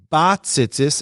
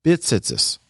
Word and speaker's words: b'tzitzis: While standing, recite the bracha lihisatev b'tzitzis, which we see below, and pronouncing it bat tzitzis and not bit tzitzis.